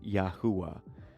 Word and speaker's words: Yahuah: And it just, the transliteration or the pronunciation is Yahuah.